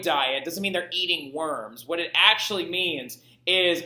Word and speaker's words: Worms: Now, in English, you say worms. Nobody in German is going to correct you because they know that you don't know how to say it. But it's actually Worms, all right?